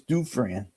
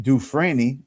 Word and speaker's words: Dufresne: I said, well, do you want to say it right? It's Dufresne. I said, if you want to get people mad, say it Dufresne, like I say it, because I get people mad on Facebook and on internet.